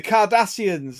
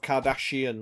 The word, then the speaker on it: Cardassian: The Cardassians, that's it. I was like, oh no way, they're like the like, because he's like, it's pronounced Cardassian, not Kardashian, like the fucking, like the fat family in America.